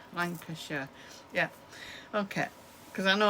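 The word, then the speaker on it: Lancashire: Um, we we pronounce it as Sh. I'll write it on the bottom of the screen. So, Lancasher and Cheshure, Oxfordshire.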